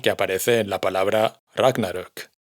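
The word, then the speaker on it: Ragnarök: aparece en la palabra Ragnarok, que como ahora ya sabemos se pronuncia con el acento en la primera sílaba, ragnarok.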